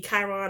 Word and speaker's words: Chiron: I guess that's the way you pronounce it. It's Chiron.